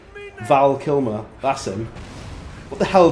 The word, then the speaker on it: Val Kilmer: just an absolute wetty cuz I said his name wrong Val Kilmer that's him what the hell did I say like kill Kim vilmer VMA what am I on about what even